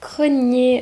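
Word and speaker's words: Gráinne: en fait c'est le c'est la version irlandaise de Grace ou plutôt Grace c'est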